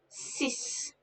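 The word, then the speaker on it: six: is not even there sis sis a little trick here the x at the end sound s and the whole word sound like a little sister in english sis sis set set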